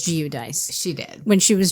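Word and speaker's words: Giudice: the same Reunion where Teresa used to be giuce and now it's jich right cuz in the first couple of Seasons she pronounced it as G dice she did when she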